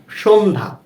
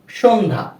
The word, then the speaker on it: সন্ধ্যা: আমরা এখানে উদাহরণ হিসাবে রেখেছি সন্ধ্যা, যেমন দন্ত স ন সংযুক্ত ধ জফলা আকার, কি হয়, সন্ধ্যা, সন্ধ্যা। আমরা কিন্তু জফলার উচ্চারণটা করছি না, তাই না?